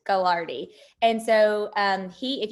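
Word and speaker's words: Gagliardi: this is john and i think you say gallardy as i think i think that g is silent gilardi and so um he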